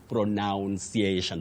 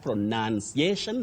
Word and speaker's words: pronunciation: But don't say pronuniation. That one I've always told people avoid it. It doesn't exist in English. We only have pronunciation, not pronunciation.